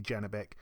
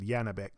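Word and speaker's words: Janibek: kanuli again I think many people say say his name a bit different but I think we all agree that his first name is definitely janabeck or I just said janabeck so God knows but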